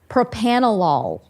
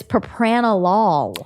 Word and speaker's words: propranolol: We were having a hard time pronouncing this word and it is propanol.